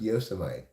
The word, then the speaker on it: Yosemite: I'm from California, right near Yosemite, sometimes pronounced Yosemite, one of America's national forests.